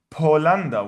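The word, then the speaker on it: بولندا: We write Bulanda, we read Polanda, which is Poland.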